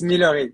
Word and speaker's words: Millory: my sweet friend and fellow interior designer millery am I pronouncing that correctly yeah that's I like the the English white it's nice it's millery but it's very French um so really nice